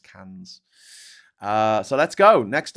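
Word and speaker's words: Cairns: Invalok is in inver is that how they pronounce it? It's like Karns up in the south in the north. Sorry. In the in the very northeast of the country is it's pronounced cans.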